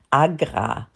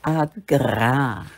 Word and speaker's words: AGRA: und Deutsche Welle kurz Agra das ist schöner Name ne Agra das die Betonung liegt auf dem R sag mal Agra Agra ja ja wunderbar also